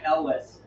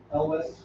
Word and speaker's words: Elwes: I say Elwes. Elvis. Yeah. Elwes, yeah. ELWES is how it's spelled, so I don't know how you.